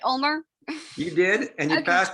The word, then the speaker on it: Ulmer: you passed my skill testing question did i pronounce your last name right omar you did and you passed my steel testing